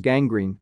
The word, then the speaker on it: gangrene: And they have hard sounds in front of other letters, such as gangrene, gastritis, cornea, and cortex.